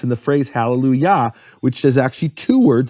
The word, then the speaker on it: hallelujah: because of that is the Kamat of yah with ya as always the emphasized syllable its hallelujah that then shifts to